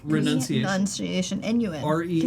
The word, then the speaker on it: renunciation: Like, Renunciation. renunciation, N-U-N. RENUNCIATI. even though you renounce, It's like pronounce. It's renunce.